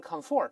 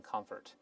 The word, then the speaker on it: comfort: 例外，它不能读成 comfort，动词还是读成 comfort。